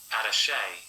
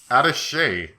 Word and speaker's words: attaché: How do you say that? I've never actually known how to say that. Hold on. Attaché. Attaché. I like the accent on that.